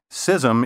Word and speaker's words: schism: in fact a schism believe it or not cism is the first and often the only pronunciation listed in dictionaries and last but not